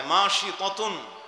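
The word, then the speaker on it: ماشطة: ইতিহাসে পাওয়া যায় না আরবিতে তাকে মাসেতাই বলে উচ্চারণ করা হয় মাশিতুন মাশিতুন মানে হল চুল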